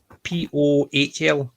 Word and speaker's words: Pohl: Lucy, is it Pool? Paul? I can't remember how it's pronounced. It's Pohl. So I don't know if it's still pronounced Pool. If it's a Polish part, I don't know. I think it's Lucy Pohl, Pohl. So I don't know how the pronunciation of that. I would have pronounced it as Pool.